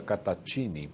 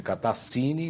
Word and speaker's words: Cattaccini: O italiano é Catatini, né? Se escreve Catassini, mas se lê Catatini.